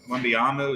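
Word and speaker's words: Wembanyama: One other thing with the NBA, Wembyama, is that how you say his name?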